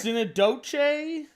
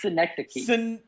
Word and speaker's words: Synecdoche: Sinadoche, New York. It's synecdoche. That's it has a D in it. Yeah, synecdoche.